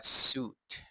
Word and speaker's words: suit: นะ ครับ ผม คำ ๆ นี้ อ่าน ว่า suit นะ ครับ suit เป็น ได้ ทั้ง คำ นาม